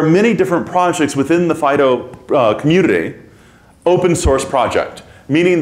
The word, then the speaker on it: FD.io: Typically FD.IO will be pronounced as FIDO because we're cutesy like that.